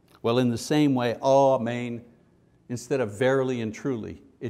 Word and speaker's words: amen: And then He says, amen. Amen comes from the Hebrew word which meant surely, or to be firm, or steady, or trustworthy. The anglicized version of the Hebrew word amen, pronounced amen in Hebrew, and was translated to Greek